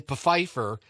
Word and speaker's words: Pfeiffer: had no idea that the p in Pfeiffer was supposed to be silent and forced all the